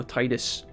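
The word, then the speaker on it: Tidus: just assume you know Titus it's like the tide comes and goes kind of like Titus inside of the game right but uh apparently yeah apparently tetus is is the cannon but I'll leave up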